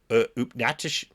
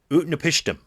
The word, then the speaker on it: Utnapishtim: well, hold on here, Upnatish. I was pronouncing this last week. Utnapishtim. There we go.